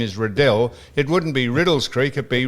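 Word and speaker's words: Riddells Creek: If the man's name is Redell and they name a creek after him, how would you possibly get Riddles Creek?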